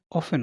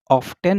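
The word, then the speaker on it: often: देखिए इसकी जो करेक्ट प्रोनाउंसिएशन होगी, सही जो उच्चारण होगा, इसको हम ऑफ्टेन नहीं बोलेंगे ना। आप सोचो कि इसको ऑफ्टेन बोल रहे हैं, but correct pronunciation is ऑफेन।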